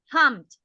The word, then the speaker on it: pumped: So we say pumped with the t sound.